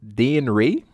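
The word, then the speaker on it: Dane Ray: stylo g and d dan dayne ray that's how you pronounce that also some dancer artist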